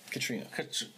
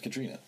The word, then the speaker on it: Catriona: Anyway, when the wife Catriona. Oh my God, Katrina. I think it's Catriona. It may be spelled that way, but it's pronounced Katrina.